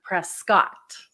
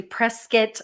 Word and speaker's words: Prescott: you can tell that you're not a local if you say Prescott you know like Dak Prescott at the football player it is actually Prescott like biscuit that's how you say it and that's how you